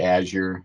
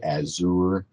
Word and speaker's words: Azure: is funny though because I've heard it pronounced a number of different ways um I I say Azure um I've heard some people say azour um I've heard people say air no um I actually should